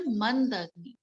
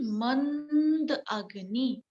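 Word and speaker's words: मन्दाग्नि: That is a mandagni. Man, the pronunciation mand agni.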